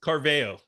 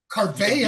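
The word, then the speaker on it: Caraveo: How do you pronounce her name? Her last name? Carveo. Carveo.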